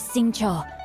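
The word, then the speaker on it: Xingqiu: leash where are my manners my name is sing Cho a humble literature Enthusiast who happened to be passing by sing Cho oh gosh I've been pronouncing it wrong in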